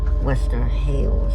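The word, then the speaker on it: Wester Hailes: Western Hails or Hills. I think it's pronounced Haley's. Western Hails.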